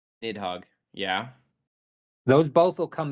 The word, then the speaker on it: Nidhogg: Eye of Nihidog, if I'm pronouncing that right. Correct me if I'm wrong on that, Chief, from Final Fantasy. That comes back. Who? Sorry. It is Eye of Needhog. Nidhogg.